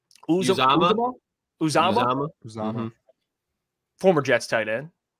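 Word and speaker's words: Uzomah: How do you say pronounce his last name? Uzama.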